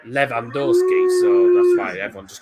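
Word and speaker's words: Lewandowski: no levy is uh it's l-e-w-y but it's um pronounced river v in poland so levandorski so that's why everyone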